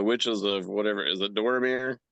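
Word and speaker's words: Dathomir: Is it Doramir? How do you pronounce it? Darthmore. Darthmore.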